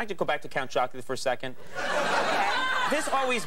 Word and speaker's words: Count Chocula: I insist that people pronounce characters from cereal boxes correctly. Count Chocula.